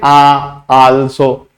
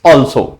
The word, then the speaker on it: also: नाउ तीसरी बात है यहां पर ऑल्सो, प्रोनाउंस कैसे करेंगे, आल्सो, नो इट्स ऑल्सो, ऑल्सो like this.